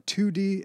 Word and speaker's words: Toodee: top d and are 2d and top d and it's spelt like t-o-o-d-e-e but it sounds like 2-d and a top-d like 3-d i guess coming out